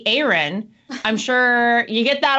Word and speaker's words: Aaryn: former Big Brother contestant entrepreneur mother of four Aaron Williams Aaron thanks so much for joining us or should I say Aaron I'm sure you get that all the time